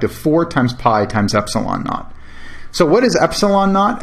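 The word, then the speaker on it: ε₀: with a subscript 0 which is often simply pronounced epsilon naught epsilon naught can be computed from K by this equation K equals 1 over the product of four times pi times epsilon not so what is epsilon naught epsilon naught is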